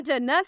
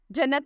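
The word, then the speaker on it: Jannat: के मानी है अच्छी और उम्दा नाम है जन्नत स्पेलिंग है जे A double N ए टी जन्नत नाम के मानी है बहिश्त और जन्नत द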